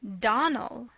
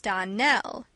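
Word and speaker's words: Donnell: Clarice Elmyra told me that you pronounced our name Donald. Now, Miss Shirley, the correct pronunciation of our name is Darnell. Accent on the last syllable.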